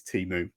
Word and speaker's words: Temu: I'm assuming it's Temu. It's pronounced.